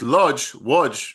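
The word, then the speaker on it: Łódź: So we had villages like Kolo, Bugaj, Izbica, these different villages around that region with Lodz, right?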